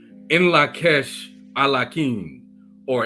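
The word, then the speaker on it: In Lak'ech: the greetings goes or the greeting is pronounced as in La Kesh a la king or in La Kesh I like him I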